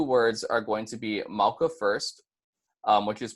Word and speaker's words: mauka: the road so for mauka is pronounced mauka so one more time that's mauka and then when you put it together you get mauka and then micaiah is gonna